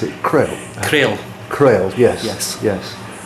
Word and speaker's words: Crail: How would you pronounce it? Crail.